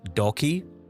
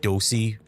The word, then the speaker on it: Docky: Um, my online name, shall we call it, is Docky, but a lot of people say like Dosey.